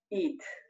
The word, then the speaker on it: eat: Eat. Eat. Si juntamos la E con esta A, sonaría como una I.